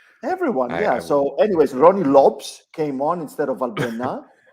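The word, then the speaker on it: Rony Lopes: said that it's actually ronnie lopes not ronnie lopez the portuguese pronunciation lops really oh that's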